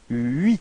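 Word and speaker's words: huit: Okay, so you pronounce the final T, but then H, so the first letter is not pronounced. So you get this first sound is U plus I, and it gives you this UI, UI.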